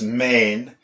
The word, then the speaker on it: mean: The word for middle is main. And I know that main, in Manx, it's spelled M-E-A-N, but in Irish, it can be M-E-A-D-H.